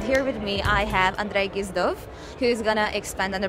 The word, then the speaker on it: Andrey Gizdov: Now I'm moving into a different field, medicine, and here with me I have Andrey Gizdov, who's gonna expand on the project he's been doing around skulls and very interesting stuff.